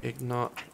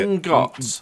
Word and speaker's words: ingot: Is it ingot? It's ingot or ingot. Ingot. Depending on that. It's ingot. Why do you think it's ignot?